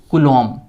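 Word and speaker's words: coulomb: ये बी को हम लोग नहीं पढ़ते हैं, इसे साइलेंट रख देते हैं, एक्चुअली इसे पढ़ते हैं कूलॉम, और इसे हम लोग रिप्रेजेंट करते हैं कैपिटल सी से।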